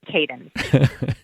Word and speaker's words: Kadin: would be able to push that so it's cadence yeah your interviewer would have got that one